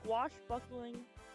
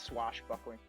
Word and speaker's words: swashbuckling: caribbean going on some squash buckling adventures squash squash bananas that's not that's not even how you pronounce it but short what do you mean that's not how you pronounce it it's it's swashbuckling squash no it's it's